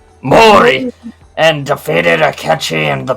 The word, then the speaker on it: Mori: How's that pronounced? Mori. Mori, and defeated Akechi in the Battle of Yamazaki.